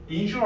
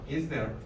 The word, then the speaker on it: ensnare: to ensnare. ensure 아니야. 스펠링 갖고 헷갈리지 마. ensnare.